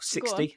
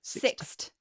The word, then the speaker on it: Sixt: He said Sixt or 60. How do you pronounce that? That car hire place? 60? Sixt.